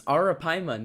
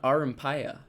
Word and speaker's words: Arapaima: really It's Arapaima, not Arampaya.